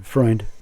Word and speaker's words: Freund: Freund in 1969. Am I saying it right? Yeah. Freund.